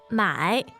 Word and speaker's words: 买: buy? 买买 Yeah. Third tone. Third tone.